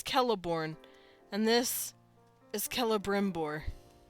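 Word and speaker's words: Celeborn: or something let's see you would pronounce that a celorn wouldn't you it's kelborn because even if it's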